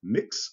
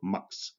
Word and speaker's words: Mx: And it's usually pronounced mix or mux, all right?